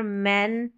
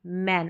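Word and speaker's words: man: आपको ये क्लियर होगा अगर ऐसे ही ए बोल दूं तो मैं आप इसको मेन पढ़ देंगे या फेन पढ़ देंगे जो कि गलत रहेगा अ उच्चारण मैन वन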